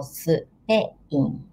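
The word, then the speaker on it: スペイン: We don't have double consonant in Japanese, so it's not SP, but SUP. The consonant always has vowel. So Spain, Spain.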